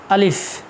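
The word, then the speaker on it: ألف: উচ্চারণটা একটু ভালো করে তোমরা খেয়াল রাখবা, এর সঠিক যে উচ্চারণ সেটা হচ্ছে আলিফ।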